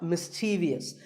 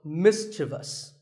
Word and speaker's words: mischievous: in the word mischievous this is not mysterious there is no I after the V the last syllable is just thus so mischievous and then there are words